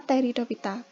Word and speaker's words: Pteridophyta: Tulisannya Pteridophyta, cuman kita bacanya Pteridophyta, gitu ya.